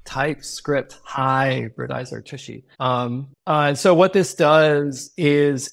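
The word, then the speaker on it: tshy: It's like TypeScript hybridizer, Tushy.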